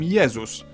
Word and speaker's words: Jezus: In Polish, we call him Jezus, but if we were to pronounce his name the English way, Jezus.